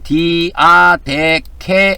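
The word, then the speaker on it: διαθήκη: 그다음에 헬라을에는 헬라어로는 디아데케 이렇게 발음을 합니다.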